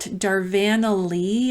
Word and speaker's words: Darvanalee: great video Nicole at darvanalee I think is how you say it d-a-r-v-a-n-a-l-e-e Design Studios her and her husband